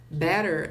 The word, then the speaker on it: better: Better é melhor. Better significa melhor. E esses dois T's aqui, do inglês americano, ele vai soar como R. Então fica better.